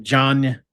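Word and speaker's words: Diagne: Reynolds, Chams, John, uh, which is spelled D I A G N E by the way. He's like diagnosed like John.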